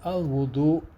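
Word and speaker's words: الوضوء: al-Muntaha, where he says al-wudu, and that is with a dammah or a short u sound on the waw or the w sound because al-wudu with the a sound means water.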